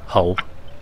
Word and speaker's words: Hull: They don't they don't pronounce the H in hole.